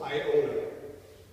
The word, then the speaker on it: Iona: To the island of Iona. Iona is spelled I-O-N-A. It's not Ionia.